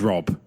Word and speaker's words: Rob: they called me Josh my name is Rob my name has always been robbed it is one syllable it is not hard so sparkly water shrimp